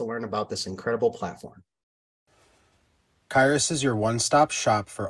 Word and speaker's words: Qyrus: any that missed it it's pronounced kairis today we have the